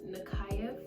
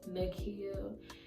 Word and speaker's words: Nakhiah: My name is Nakhiah. It's spelled Nakhia, but a lot of people mispronounce it as Nakia. And I hate that shit.